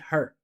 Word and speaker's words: her: I didn't say trying to avoid her. I did not pronounce the H.